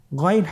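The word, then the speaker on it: غين: চেষ্টা করুন আবার বলুন গাইন গাইনের মাখরাজ কোন জায়গায় আপনারা স্ক্রিনে দেখতে পাচ্ছেন ছবিতে দেখা যাচ্ছেন হারাফটি উচ্চারিত হয় কন্ঠনালীর শেষ ভাগ হতে এখান থেকে উচ্চারণ করুন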